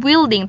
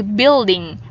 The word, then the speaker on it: building: Miss Irish abik bilding Jadi bukan building tapi bilding Oke bilding Irish abik